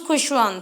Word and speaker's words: Khushwant: But he chose Khushwant so that it rhymes with his elder brother's name Bhagwant.